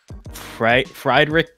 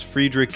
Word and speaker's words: Friedrich: not just any book club the episode about F fried Rick N oh I was about to I was